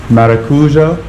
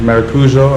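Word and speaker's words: maracujá: pineapple and some passionfruit maracuja passionfruit I think maracuja America something like that that's how they say it here finally some space we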